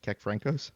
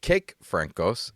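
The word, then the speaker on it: Kékfrankos: Kek Franco. So very close, but no. Joel K E C. No. Okay. All right. So, the correct spelling and it's it's cake Franco was the correct pronunciation, but that would have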